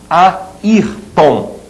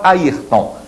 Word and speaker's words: Ayrton: Então, qual é a sílaba tônica da palavra Ayrton? É essa aqui, né? Ayrton.